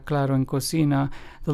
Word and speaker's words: cocina: Claro, which means clear in Spanish, is pronounced as claro. And cocina, which means kitchen in Spanish, is pronounced as cocina.